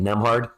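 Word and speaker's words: Nembhard: That's how you say it, Nemhard.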